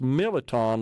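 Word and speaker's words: mirliton: it was always pronounced militon. Like the R is kind of silent.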